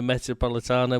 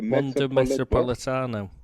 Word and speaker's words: Metropolitano: we've got to go to the one the metropolitana where we won it last year oh that's right yeah I've never been able to pronounce let's say that again the Metropolitano yes see six months in Spain wasn't wasted